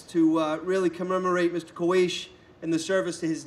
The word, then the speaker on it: Luís de Camões: Luís de Camões. Well, I'm going to say it right because I practice. Camões. Camões. I practice a lot in my office. Camões. Luís de Camões.